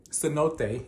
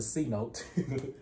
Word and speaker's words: cenote: But then we went to the, cenote is how you actually said it. We said it wrong earlier. Me and my cousin said it wrong earlier. We kept calling it the C-note.